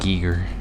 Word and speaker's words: Giger: say Giger, but if you hear him say it, it says It's it like spelled with an Giger.